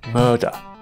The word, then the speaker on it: murder: word murderer or murder where you simply just pout your lips out murder murderer now there is as